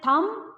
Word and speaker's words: thumb: I have said thumb pin. B is silent out there.